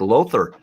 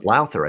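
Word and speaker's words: Lowther: garrett richards and zach lother on lauther i think is actually how you pronounce it uh next up uh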